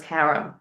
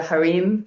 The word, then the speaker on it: harem: conversations revolved around this harem. And I know, like in other countries, they call it the harem, but here in America, he called it harem. That's why I pronounce it that way.